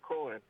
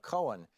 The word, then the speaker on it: Cohen: Yeah, the interesting thing, by the way, about Cohen is last night I tuned into Hannity's program to see what he had to say, and he referred to him as Michael Cohen, one syllable.